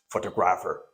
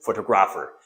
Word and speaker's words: photographer: No, actually, it is not pronounced photographer. Most of the people may pronounce the word photographer. because they think that this is photo, this is graph, and this is photographer. No, the pronunciation is see, photographer.